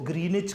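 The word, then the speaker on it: Greenwich: करीब एक कस्बा है ग्रीनिच लिखा विच जाता है लेकिन डब्लू साइलेंट है इसको ग्रीनिच कहा जाता है आप जब अपना टाइम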